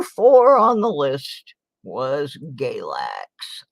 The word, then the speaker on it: Galax: on the list was Galax or where I live and it rhymes with Ex-Lax for a reason all right oh my